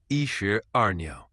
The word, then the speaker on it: 一石二鸟: For pronunciation, it's yi shi er niao.